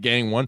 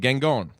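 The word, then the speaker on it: Gangone: It's spelled like Gang One. Perfect. How do you say it? Gangon. Gangon.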